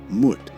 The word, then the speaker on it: Mut: The Greek mu spelled m o u in Greek is a long ooh sound exactly like moot. This lines up perfectly with how the Egyptians pronounce the goddess moot.